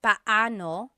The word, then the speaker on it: paano: just a pronunciation tip it's technically paoo when they're two vocab when they're two vowels together you say them separately Pao but when speaking quickly